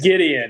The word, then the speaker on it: Gideon: it's Gideon, My actually fault.